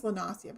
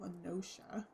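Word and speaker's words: La Noscea: I always think it's Lenasia, but no, it's pronounced Lenoshia.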